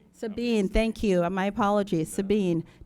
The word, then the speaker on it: Sabine: boards in a range of volunteer capacities, including Sabine. Am I pronouncing that correctly? No, ma'am. Oh, could you correct me then? How about Sabine? Sabine, thank you.